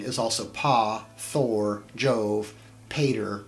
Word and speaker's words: Pater: also paw Thor Jove Pater pronounced Potter reason 19 when you